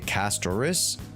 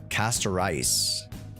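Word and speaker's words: Castorice: How do you say castris? I say castoris, like straight up rice. Castor rice.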